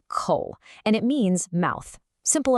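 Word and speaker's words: 口: That's pronounced coal and it means mouth.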